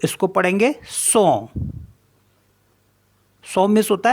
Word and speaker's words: son: है good S ओ एन तो इसको पढ़ेंगे सो सो मीस होता है साउंड साउंड एन ओ एन